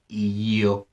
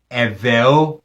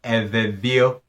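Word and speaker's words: Eʋeawo: The name is actually pronounced Eveo or Evevio. In the singular, it is Eve.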